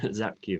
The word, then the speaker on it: Szapkiw: call today with zapke uh did i say that right zapp cube last name zap q okay so if anyone ever sees my crazy name it's pronounced like z-a-p-q zap cube thank you okay yeah